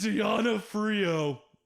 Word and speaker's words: D'Onofrio: then our villain, Vincent D'Onofrio, who's our You say his name wrong every single time. fuck off. It's D'Onofrio. Vincent D'Onofrio. I mean, because it's D-O-N-O. Sorry, Vincent. F-R-I-O.